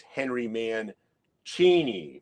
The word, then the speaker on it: Mancini: Maybe a certain YouTuber in the vinyl community threw out, you're saying it wrong. It's Henry Mancini.